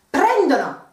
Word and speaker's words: prendono: Same rule as before with the pronunciation. Prendo, prendi, prende, prendiamo, prendete, and loro, one syllable behind, prendono, ok?